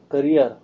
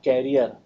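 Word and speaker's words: career: करियर, इट्स नॉट कैरियर, इट्स करियर.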